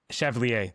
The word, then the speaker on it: Chevalier: Chevalier.